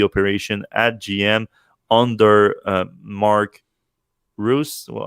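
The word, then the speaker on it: Reuss: He really is in charge of the whole EV operation at GM under Mark Roos. Well, how do you pronounce his last name? Royce, yeah. Royce, the president of GM, and also president of GM North America, Mr.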